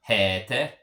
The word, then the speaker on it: heter: Well, there's only one T, so that means that the E is going to be a long E.